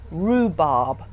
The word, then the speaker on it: rhubarb: and with an H such as rhubarb where the H is silent so let's practice some